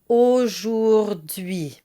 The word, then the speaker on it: aujourd'hui: It's aujourd'hui, and it's really worth breaking down the four vowel sounds one at a time.